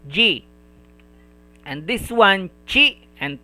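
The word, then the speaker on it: じ: This one, she and 1010, it is pronounced as ji.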